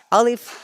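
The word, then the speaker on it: ألف: process is very simple you have to say alif and the sound of alice comes from the empty space of your mouth alif alif alif repeat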